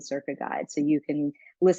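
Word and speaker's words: Cerca: right now we have a big project called circa which is an app uh c-e-r-c-a is how you spell it and that is a specific app for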